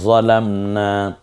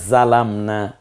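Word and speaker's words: ظلمنا: রব্বানা যালামনা। দেখুন তো আপনি পারেন কিনা, একটু ট্রাই করুন। যেমন একটা পড়েন, রব্বানা যালামনা। এটা কোন জাটা আমি জাল দিয়ে উচ্চারণ করেছি। যদি বলি রব্বানা জালামনা, এটা কোনটা দিয়ে বলতে পারেন?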